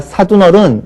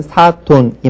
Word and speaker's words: 사돈: 그 다음에 우리가 사둔어른 이렇게 얘기를 하죠. 우로 발음합니다. 그러나 이것도 역시 한자 본음을 따라서 물론 이제 순한글이다라고 얘기하시는 분들도 있는데 어쨌든 사돈이 맞겠고요.